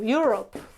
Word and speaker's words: euro: Okay, another word, I don't know, Europe, no? Yes. In English, this is Europe, but in Spanish, it's not Europa, or the currency is not euro, it's euro or Europa, okay?